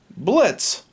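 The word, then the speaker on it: Blitzø: a natural born imp blitz the o is silent and his business that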